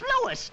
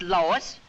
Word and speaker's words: Louis: Me name is Louis, not Lois.